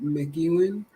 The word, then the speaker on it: McEwen: How do you pronounce that last name? McEwen. Yeah, McEwen, McEwen in Ackworth.